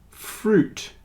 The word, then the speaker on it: fruit: have a silent U but fruit juice and suit the I is not pronounced fruit juice and suit